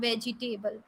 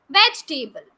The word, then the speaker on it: vegetable: to the vegetable market no it's not vegetable vegetable veg table the next e sound is not there vegetable right pidja we are